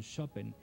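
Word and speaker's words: Szopen: Bueno, digamos en el vocablo polaco, en el idioma polaco, así es como se pronunciaría, ¿no? Sería como un Chopin. La SZ pues la pronuncian como SH, ¿no? Entonces como sh.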